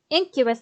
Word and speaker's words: Incubus: Incubus, that's how you say it.